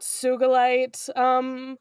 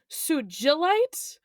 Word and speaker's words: Sugilite: Sugilite is commonly pronounced with a soft G, as in ginger.